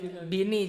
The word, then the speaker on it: Beanie: Jadi misalkan Bini, Cuk, itu Beanie. Bacanya Bini.